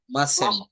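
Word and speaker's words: mustn't: আই মাস্ট কি উচ্চারণ হবে স্যার? মাসেন্ট, মাস্টান্ট মাসেন্ট, হ্যাঁ মাসেন্ট। মাস্টান্ট গো টু স্কুল, আমি স্কুলে যাব না।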